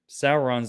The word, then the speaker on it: Sauron: real crispy marble fanfare issue one right with sauron on the cover sauron however you say his name sauron's the lord of the rings guys it's sauron